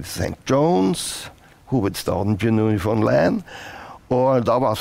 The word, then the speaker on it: Newfoundland: Vi var på Newfoundland, som de sier. Ikke Newfoundland, men Newfoundland uttaler seg.